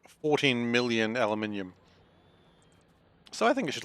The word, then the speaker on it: aluminium: of these mines has at least, like, 14 million aluminium.